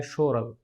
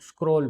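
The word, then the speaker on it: schorl: यह एक German word है और इसकी जो प्रोनाउंसिएशन है वह है शोरल। शोरल सो अक्सर जर्मोलॉजिस्ट यहां पर गलती करते हैं कि वो इसको स्क्रोल बोल देते हैं। हालांकि आप जब इसकी स्पेलिंग पढ़ेंगे और ठीक से इसको प्रोनाउंसिएट करेंगे तो यह शोरल बनता है।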